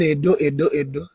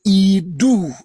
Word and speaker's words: Idu: Now, the word everybody is calling Edo is a mispronunciation. The word you are calling Edo in English, the EDO is Idu. Originally IDU or IDUU, not Edo, Idu.